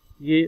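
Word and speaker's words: jag: लेकिन जब स्वीडिश में इसे प्रोनाउंस करेंगे तो वो कुछ जो वर्ड्स हैं साइलेंस कर देते हैं, जैसे वो योग को या, आर को ए, यो एफ्रॉन मालमो, ठीक है।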